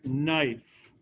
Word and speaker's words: knife: that put the word knife knife is k which is silent n i f e it doesn't look like